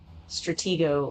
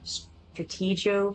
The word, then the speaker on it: Stratego: was like, you know, actually it's uh, Stratego or Strategio, however you want to pronounce that. Um, I feel like I've always pronounced it um, Strategio because it's like um, strategy, right?